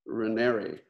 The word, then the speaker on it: Raniere: of an organization called nexium headed by keith raniere do i pronounce that right right here it's actually rene like canary roneri like canary all right i'll probably get that